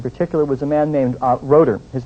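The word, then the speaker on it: Rotter: about this in particular was a man named rotor his name is pronounced is spelled ro TT TT ER but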